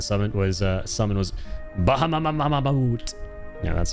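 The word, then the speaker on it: Bahamut: Your most used FF7 summon was uh summon was Bahama.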